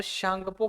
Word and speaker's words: Tsangpo: ठीक है, T silent कर दिया जाता है और शांगपो के नाम से प्रोनाउंसिएशन किया जाता है, बट टी यूज होता है तो शांगपो।